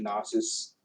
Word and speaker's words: Gnosis: Pray say the G is silent. I can't remember. The Gnosis, this Gnosis person, and where he was.